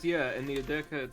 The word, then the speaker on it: Edeka: Navi says, yeah, in the Edeka at 7 p.m., and it's the only supermarket here. I love it how you said Edeka. Is it Edeka? Edeka, yeah.